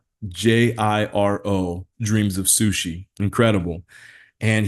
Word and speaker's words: Jiro: It's either Jiro or Gyro. and it's Jiro, Dreams of Sushi.